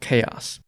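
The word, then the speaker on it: Xaos: The gate town that leads to Limbo is called Zos pronounced chaos.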